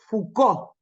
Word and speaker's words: Foucault: corta pero prolífica vida acuérdense que se dice foucault eh foucault como si la eh la ou se pronuncia u y la la cult esa es fuc como se dice Renault sí no s dice